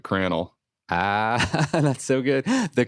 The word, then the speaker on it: Crannell: but spell Cran yeah c r a n n l l it's like flannel but cranel Ah that's so good